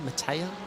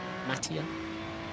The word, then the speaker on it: Mattia: a Matti, but a Mattia? How do you pronounce that? M-A-T-T-I-A. Mattia? Sorry. Mattia. Ubertale.